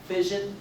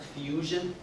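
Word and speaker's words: fission: spell it and you you pronounce it as fion not Fusion two different terms two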